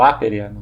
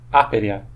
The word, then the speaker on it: aperea: Ou aperea, a pronúncia seria uma palavra proparoxítona. Proparoxítona, aperea. Acho que seria assim a pronúncia, mas enfim.